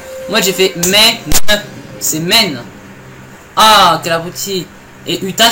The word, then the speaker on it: Maine: Ouais, parce que le Maine c'est une seule syllabe. Moi j'ai fait Maine, c'est Maine.